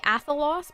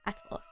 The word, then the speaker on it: Atalos: I feel like I want to say Athalos, but I know that's not how you spell it. Is that okay? Cool. Atalos.